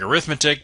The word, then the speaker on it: arithmetic: the word looks like arithmetic but remember that if it is an adjective as it is describing the sequence here we pronounce it as arithmetic and that's gonna have